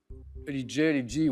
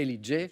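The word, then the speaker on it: L.E.J: Elidji, oui. Parce qu'on le prononce à l'anglo-saxonne. Mais je n'allais pas vous refuser, bien sûr, la bonne réponse. Elle, donc les initiales L, E, J et Ellie J.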